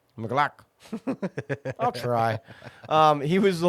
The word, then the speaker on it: McLaughlin: It's Jaleel not that hard, McLaughlin. It's just Glock. McLaughlin.